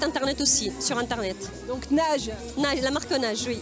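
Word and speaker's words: Naje: Donc Nage. Nage, la marque Nage, oui. Comment ça s'écrit ?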